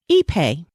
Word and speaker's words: Ipe: Next, Ipe. Ipe is spelled I-P-E.